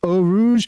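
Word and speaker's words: Eau Rouge: or to signature corners Oh Rouge and ready all officially are the pronunciations for both of those and they actually stem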